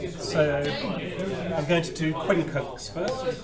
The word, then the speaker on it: quincunx: So I'm going to do quincunx first.